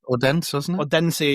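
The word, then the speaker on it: Odense: abbreviated as OB signed by me Odensi.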